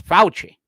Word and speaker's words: Fauci: So what's that pronunciation one more time? Fauci. It's Fauci.